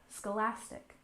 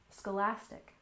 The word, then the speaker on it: Scholastic: to Scholastic assessment test Scholastic we stress the second syllable Scholastic Scholastic and assessment we stress